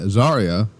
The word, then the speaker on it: Zaria: Stephanie Vicure, Jordan Grace, and Zaria, which finally I figured out that's what it's pronounced.